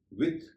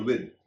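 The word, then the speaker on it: with: इसी तरह विथ और विद दोनों उच्चारण हैं। आप जो भी उच्चारण करना चाहें कर सकते हैं, लेकिन विदाउट और विद इन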